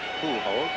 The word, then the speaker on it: Pujols: That is the correct language pronunciation, by the way, Pujols.